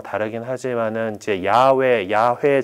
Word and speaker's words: 야훼: 뭐 다르긴 하지만은 이제 야훼 정도로 발음되는 그 하느님의 이름이 성경 안에서 이렇게 나와요. 근데 하느님 이름을 함부로 부를 수가 없잖아. 그래서 이제 이 쭉 나가다가 이 야훼라는 단어가 나오면은 거기다가 이